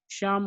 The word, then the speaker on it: Psalm: इसमें P silent है और एल भी साइलेंट है। शाम ऑफ लाइफ, जीवन का संगीत, जीवन का गीत, ये पोएम थी।